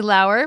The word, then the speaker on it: Laur: Lauer, which rhymes with flower, yes.